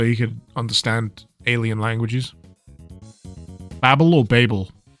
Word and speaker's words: Babel: Is it Babel or Babel? I like to say Babel because it doesn't sound as stupid as Babel.